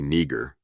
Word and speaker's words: niger: In Latin, pronounced roughly nagger in classical Latin, simply means black, describing the color black or dark shade.